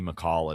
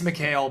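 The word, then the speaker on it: Mikal: send Giannis to the Knicks, and then Gimme McCall and Cat to the Lakers to go play with Luka, tell me that everyone there isn't happy.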